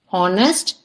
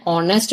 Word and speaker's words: honest: for words like honor honest and however we use an because in these words H is silent for example an honest man and H although